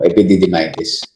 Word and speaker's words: epididymitis: I'm sure pag pumunta kayo sa ibang bansa, yun iba yung pagbigkas nila. Pero dito sa Pilipinas, yung American English natin, more of American English tayo. So, epididymitis yung pronunciation natin.